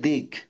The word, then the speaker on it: দিক: দিক। মানে আমি ওটা বুঝিয়ে দিচ্ছি যে ওইটা আসলে হর্ষ মানে কি। ওইটা, ওখানে ওখানে কোনো ভাওয়েলের উচ্চারণ হবে না।